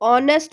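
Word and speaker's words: honest: एच हमारा होता है कॉन्सोनेंट, लेकिन हम जब इसको बोल रहे हैं, जब इसका प्रोनाउंसिएशन कर रहे हैं, तो यहाँ पे एच साइलेंट है। यहाँ पे हम ध्यान देंगे कि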